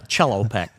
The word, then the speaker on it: cello: A cello pack. Yeah, that's it. That's the musical instrument, correct? Correct. But spelled the same. Spelled the same, Okay. but it's pronounced Cello. cello.